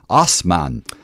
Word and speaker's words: Assman: Osman says his dramatic name is pronounced Osman.